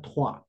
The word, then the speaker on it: trois: Y no, solamente recuerden, 3 se pronuncia trois.